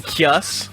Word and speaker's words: Caius: That, you mean Kius?